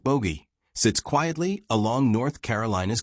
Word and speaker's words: Bogue: A town named Bogue, Bogue, pronounced bogey, sits quietly along North Carolina's coast.